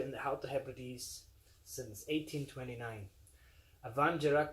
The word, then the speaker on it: Abhainn Dearg: avon gerard distillery pronounced van gerak in the title you